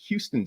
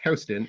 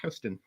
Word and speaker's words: Houston: Yorker on my pronunciation of Houston Street I pronounced it like Houston Street but apparently it's Heston it's Houston and and everyone from New York knows that